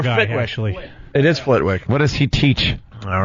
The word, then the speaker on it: Flitwick: Fitwick.